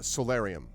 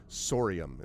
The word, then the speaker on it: Sorium: Uh, solarium. Oh, no, no, no, no, no. Sorry, not solarium. Sorium is what you sorium.